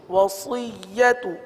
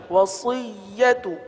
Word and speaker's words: وصیت: واو زبر و، صاد یا زیر صی، صی، سی نہیں پڑھیں گے، صی، وصی، یا زبر یا، وصیہ، تا پیش تو، وصیت، وصیت.